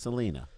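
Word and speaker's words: Celina: mean what's your hometown it's called salinaa Tennessee Sala and it should be pronounced Selena probably right but they don't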